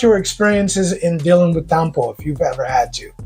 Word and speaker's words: tampo: Tampo.